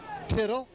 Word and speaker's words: Tittle: that's about it now is it tittle or little a because it looked it look like tittle on the on the roster which rhymes with little by the way Larry forgive me trevone tittle tittle is not little